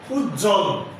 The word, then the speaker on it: উজ্জ্বল: যুক্ত ব্যঞ্জনের সঙ্গে ব ফলা থাকলে তার উচ্চারণ হবে না। যেমন উজ্জ্বল, উচ্ছ্বাস, তত্ত্ব।